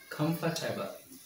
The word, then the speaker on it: comfortable: Not four syllables. Three syllables. Comfortable.